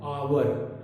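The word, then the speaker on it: hour: एन आवर, अब यहां पर एच ओ यू आर लिखा होता है लेकिन हम इसको प्रोनाउंस करते हैं आवर, आवर एक वाउल साउंड है। एन आवर, एच म्यूट है यहां पर एटसेट्रा।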